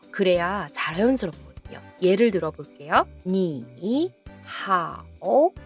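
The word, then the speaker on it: 你好: 삼성과 삼성이 만나는 경우에 앞에 있는 삼성이 양보를 합니다. 편하고 짧은 이성으로 바꿔요. 그래야 자연스럽거든요. 예를 들어볼게요. 니 하오, 니 하오.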